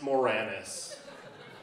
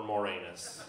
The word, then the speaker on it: Moranis: Moranis and I said Jan I believe it's pronounced Moranis and she said Michael I really do prefer morenas I said that's good so did my dad's